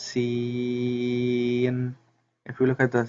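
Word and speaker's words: سين: For example, Sin is pronounced Seen.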